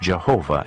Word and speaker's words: Jehovah: An outstanding feature of these ancient texts is the frequent use of the divine name, the Tetragrammaton, pronounced Jehovah in English.